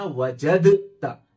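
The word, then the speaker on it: وجدتَ: तरह यहां पर वजदता, ये दाल और ता जो है सेम मखरज है, इसलिए दाल लिखेंगे लेकिन पढ़ने में नहीं आएगा, साइलेंट रहेगा, तो लिखेंगे वजदता, वअत्ता की तरह वजदता, लेकिन पढ़ेंगे वजदता।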